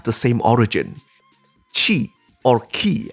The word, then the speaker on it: Ki: same origin Chi or Ki as it is pronounced in Japanese acupuncture points meditation they